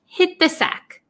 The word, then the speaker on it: hit the sack: sack hit the sack so this t almost becomes silent and it links with this th hit the sack hit the sack and